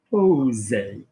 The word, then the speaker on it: poser: the monkey, so pou, and the double S, is that going to give me the insect or the snake? It's going to give me the snake, so pousser, okay, pousser. If I had this word, but I've got one S, which is like a Z, so that is going to be poser, poser, okay, poser.